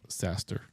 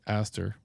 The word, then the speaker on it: Aster: Oops, not Saster, but Aster. could rhyme with disaster.